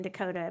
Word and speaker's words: Dakota: Yeah, it's a beautiful story, especially the sheets, but it does rhyme with Lakota. So I'm going to be thinking Dakota means Lakota. By the way, Well, my, and so does pagoda.